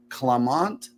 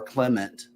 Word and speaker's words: Clement: in 1831 American manufacturer clamont studabaker or Clement depending on your banana pronunciation founder of stud Baker